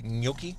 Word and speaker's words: gnocchi: So now in the back seat, as Kyle's cutting this, we have Gnocchi Mac, or do you say gnocchi?